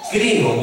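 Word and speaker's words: κρίνω: Nosotros lo hemos aprendido, que viene de la palabra en griego que se escribe o se pronuncia crino, con K de kilo.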